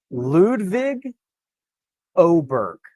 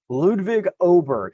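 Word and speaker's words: Ludvig Åberg: he told me that the acceptable English pronunciation would be Ludwig oberg IC I can do that as well so I'll have to I'll have to get that into my brain Ludwig oberg is acceptable if you start getting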